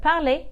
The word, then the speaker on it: parlent: verb is Le pal you have also probably realized that here there's no different symptoms of the pronunciation between el pal plural this is because a